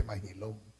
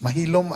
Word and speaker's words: Maxilom: let's start with the beginning people tend to mispronounce the name of General maxilom it's actually mahom because the Mexican Spanish ex is also congruent to the English age mahilum and Maxum would be their Nam so they're